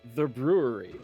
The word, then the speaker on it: Bruery: For those of you joining now, it's the beer of the evening is by a brewery called The Brewery, but it's spelled Bruery.